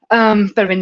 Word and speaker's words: Pellerin: It's Pellerin, because French are weird with pronouncing, but Pellerin is good enough, don't worry.